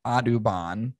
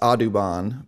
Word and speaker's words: Audubon: knew the association of this audubon which is yeah autobahn spelled differently pronounced differently yeah cause my thought